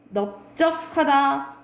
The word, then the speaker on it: 넓적하다: 이거는 사실 외워야 돼요 자 밟다 넓적하다 넓둥굴다는 비읍으로 바른다라고 보시면 됩니다 원칙은 뭐야 리을 바르면